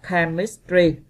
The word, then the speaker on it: chemistry: Còn câu B các bạn đọc là chemistry, chem ha, không đọc là chem nha các bạn. Các bạn đọc là chemistry thì nó chính là âm K.